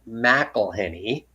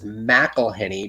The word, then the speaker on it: McIlhenney: you to pronounce it Mcilhenney. The traditional pronunciation of our name is Mcilhenney because the MC with a space and then a capital I makes the MC a Mac and not a Mick.